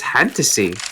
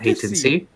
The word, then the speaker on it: Fantasy: It's fantasy, not hatency.